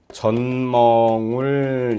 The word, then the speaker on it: 젖멍울: 전멍울 같은 것도 젖멍울 이렇게 했는데 발음은 전멍울 이렇게 비음화가 이렇게 일어나죠.